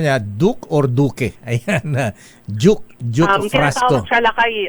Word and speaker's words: Duke: Ah ano ang pronunciation ng pangalan niya? Duke or Duke? Ayan Duke.